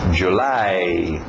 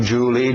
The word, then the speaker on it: July: A pronúncia February, February, January, February, March, April, aquele L no final, April, May, June, July, nada de Julie, Julie é um nome próprio escrito de outro jeito, July, A e o U fazendo o som de A.